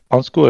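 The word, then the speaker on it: undskyld: Onsku es como excuse me, como llamando la atención a alguien. Onsku, sí, pero la pronunciación debe ser lejos de eso, pero es eso.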